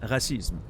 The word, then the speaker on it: racisme: I should have said racisme, you know, to respect the French pronunciation, but...